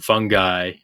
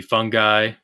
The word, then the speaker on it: fungi: it was hilarious that the correct pronunciation of fungi can be fungi fungi fungi fungi and fungi didn't I say fungi